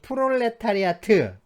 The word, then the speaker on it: 프롤레타리아: 건 아니고요 우리는 이 프롤레타리아트 보통 이제 프랑스 처럼 발음을 해서요 프랑스 처럼 발음을 해 가지고 프롤레타리아 라고 멘트 태 티 는 발음하지 않기도 하는데요 내 이제 이 프롤레타리아